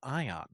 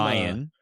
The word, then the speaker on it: Ian: What kind of name is Ion? Like like from Ian. Okay. Not Ion. No. No. But this pod will not be referring to anybody that's name is spelled I A N as anything but Ian. So that's it. You'll call him Ian.